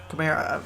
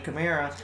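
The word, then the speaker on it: Kamara: you know michael thomas and and uh camara camaro i believe sorry for mispronouncing his last name camara so it's like they only really need a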